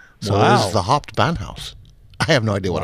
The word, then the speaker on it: Hauptbahnhof: There's only three syllables. Hauptbahnhof.